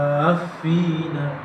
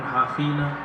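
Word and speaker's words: حافين: Wa taral malaikata haffina, gitu ya. Jangan hafina, haffina min haulil 'arsy.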